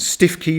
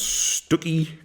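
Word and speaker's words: Stiffkey: that day we pass through Blakeney Morstan and stiff key which I discovered his pronounce Stewie and by the time we reached wells next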